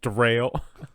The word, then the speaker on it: Daryl: It's like spelled Daryl, but pronounced Derail.